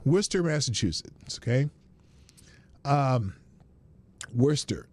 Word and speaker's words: Worcester: ] it's pronounced it's Worchester but it's wor Worster Worcester Massachusetts okay um Worster well that you know like the sauce you we're Chester sauce